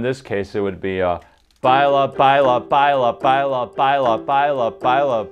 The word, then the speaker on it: baila: So the bala bala bala is confusing because of where the last lie syllable lands. Baila. Oh, baila?